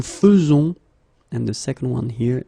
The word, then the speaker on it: faisons: The first one here for pronunciation, nous faisons, and the second one here because you write it like that and it's not vous faisiez but vous faites.